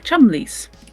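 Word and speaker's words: Cholmondeleys: Um, one was called the Fan Shaw, spelled like that, and the other one was the Chumlies, spelled Chum Cholondly.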